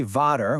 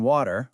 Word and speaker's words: water: We often say vodder when we mean water or vine when we mean wine.